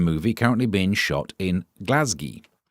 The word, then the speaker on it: Glasgow: currently being shot in Glasgi. Sorry, I think we have to say it as Glasgi because we have to apparently pronounce it as DI.